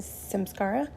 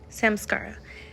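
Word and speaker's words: samskara: was walking earlier I heard in my head Sims Scara I hope I'm saying that correctly um my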